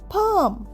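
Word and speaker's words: palm: কাম মানে শান্তশি ইস লুকিং কাম টুডে আজকে তাকে খুব শান্ত দেখাচ্ছে নেক্সট যাই পি এল এম পাম এখানেও কিন্তু এল এর উচ্চারণ হচ্ছে না পাম মানে হাতের তালু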